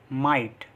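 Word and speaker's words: might: Next rule है हमारा, जब आई के बाद जी एच टी आए तो भी आई को आई से पढ़ते हैं, और जी एच टी में जी एच साइलेंट रहता है। मतलब जब भी जी एच टी साथ में आ रहा है तो उसमें जी एच को हम पढ़ते नहीं हैं, जैसे फाइट, राइट, लाइट, नाइट, माइट।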